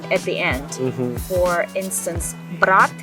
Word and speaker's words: брат: For instance, брат, брать. Брать is a verb to take something. Брат is brother. So it's very important to learn how to pronounce that because the meaning of the word can change.